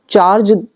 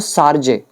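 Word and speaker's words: chargé: दूसरा चार्ज, पढ़ने में चार्ज लग रहा है बट ये चार्ज नहीं होता, इसका प्रोनाउंसिएशन होता है सार्जे, सार्जे डी अफेयर्स।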